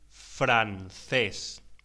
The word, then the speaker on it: francés: Pronúnciese francés. La C ante las vocales E o I se pronuncia como una TH en inglés.